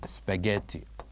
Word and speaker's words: spaghetti: me spaghetti spaghetti so what is the letter that we don't say here in this word spaghetti it is of course letter H it is of course